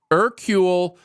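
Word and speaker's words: Hercule: cool yeah whatever okay okay I got it ercule poorat no yeah now retired living in Venice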